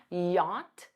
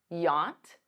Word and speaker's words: yacht: Rich enough to afford a yacht notice that pronunciation yacht yacht you can use wealthy Warren Buffett is extremely